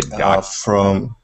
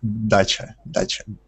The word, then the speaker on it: dacha: Is it a dacha?